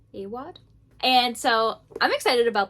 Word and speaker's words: Awad: So, I am about to start reading Bunny by Mona Award. I think that's how you say it. Awad. Awad.